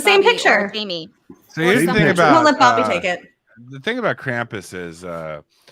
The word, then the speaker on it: Krampus: picture the thing about Krampus is uh the German pronunciation is complin uh son of heel